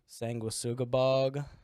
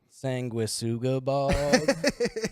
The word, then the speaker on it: Sanguisugabog: Sanguisugabog. Pronounce it correctly, please. Sanguisugabog.